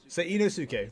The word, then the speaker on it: Seinosuke: Seinosuke.